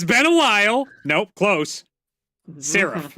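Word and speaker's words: Sarif: Saf. It's been a while. Nope, close. Seraph, like in Black Ops 3.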